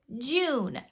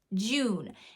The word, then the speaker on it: June: ooh sound like tube same with this word June we can't have them say Jun Jun that's not the the way we pronounce that word it's j June it's the oo sound so if your child